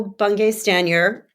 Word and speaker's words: Bungay Stanier: hear what Michael had to say well Michael bung staner I'm doing my best with that pronunciation nailed it I nailed it I nailed